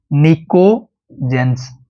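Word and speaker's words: pnictogens: भी लिख देता हूं निको जेंस यहां पे जो पी है वो साइलेंट है नीजन वर्ड है ग्रीक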